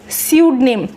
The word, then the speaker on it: pseudonym: PSE, लेकिन इसमें भी पी साइलेंट रहेगा और SE से इसका प्रोनाउंसिएशन स्टार्ट होगा। तो क्या होगा आपका नाम? स्यूडनेम। स्यूडनेम होता है फेक नेम। बिल्कुल उसी तरह जिस तरीके से आपकी निमोनिया की स्पेलिंग को पी न्यूमोनिया नहीं बोला जाता, आप पी को कट करते हो सिर्फ निमोनिया बोलते हो, उसी तरीके से इसमें से पी कट हो जाएगा और सिर्फ स्यूडनेम बोला जाएगा।